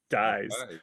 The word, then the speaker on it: Dies: his life there you go the story Martin Dies period and then uh of course FDR uh